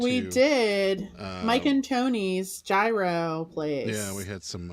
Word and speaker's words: gyro: salad for those of you that want it pronounced correctly it AO it's gyro yeah AO yeah uh Andy we don't even